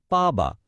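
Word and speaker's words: 爸爸: এখানে যে ব্যাপারটা খেয়াল রাখতে হবে সেটা হলো এর টোন। দেখুন, বা শব্দটা 4th টোন বা একটা পতনশীল টোনে বলা হচ্ছে, তাই এটা হচ্ছে পাবা।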